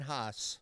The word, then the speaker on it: Haas: All right, Haas. Yeah. Did I say it right? You did. Okay. Haas. Yes. Like Haas. Hoss, even though it's H-A. Like Haas's. Yeah, like some hosses.